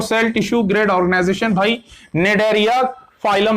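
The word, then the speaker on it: Cnidaria: Phylum निडेरिया, इसका pronunciation निडेरिया है, पहले का जो सी है वो साइलेंट है।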